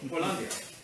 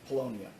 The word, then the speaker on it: Polonia: Well, I know you're from your mom, but I mean, okay, so Polandia. That's how you say it in Polish, yes? Polandia? Oh, just Poland? Polonia. Polonia. Polonia. Okay, not Polandia.